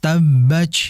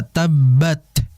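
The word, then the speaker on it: تبت: ini berlebihan dalam membacanya, sehingga seakan-akan seperti C. Tabbach yada tabbach. Nah, ini hati-hati. Berbeda dengan kita membaca tabbat, bat, ya. Tabbat dengan tabbach.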